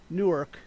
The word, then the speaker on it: Newark: that out uh oh newark new jersey which sounds like new york but it's a different city that also has its